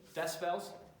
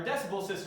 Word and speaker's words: decibel: So the unit is a bell, Oh. and we typically talk about tenths of bells, which is a decibel, and then everyone pronounces it decibels.